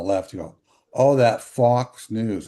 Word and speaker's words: faux: The x is silent. Yes, because it is a French word originally. In English, this is usually pronounced fo fo as in faux pa.